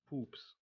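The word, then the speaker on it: Pups: so how do you say a fart foot poops poops poops p-u-p-s poops poops that's how you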